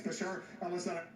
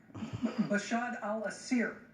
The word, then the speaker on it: Bashar al-Assad: Bashar al-Assad, I know you mispronounced his name a few times, but it's Bashar al-Assad. Bashar al-Assir was the attempt there.